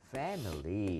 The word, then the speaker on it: family: 자, family 앞에 A의 강세 하나만 찍어주세요. Family. 그래서 실제로 너무 패밀리보다는 예. 약간 힘이 죽어서 패멀처럼 힘이 좀 변질이 될 거예요.